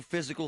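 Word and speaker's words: Fyzical: You want a new physical therapy experience?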